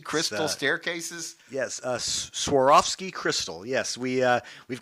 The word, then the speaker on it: Swarovski: photo made on those how do you say sovi crystal staircases yes uh Swarovski Crystal yes we uh we've got we've been